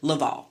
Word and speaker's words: LaValle: respect on his name by pronouncing it correctly his name is Victor Laval what did you do